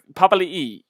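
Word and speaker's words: Papali'i: probably to be fair so papali is apparently how you say it oh yeah okay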